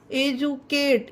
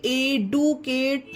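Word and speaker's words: educate: एजुकेट, इसे एडुकेट नहीं पढ़ेंगे गाइस। इसमें डी का उच्चारण जा हो गया है, क्योंकि इसमें लास्ट में क्या आया है?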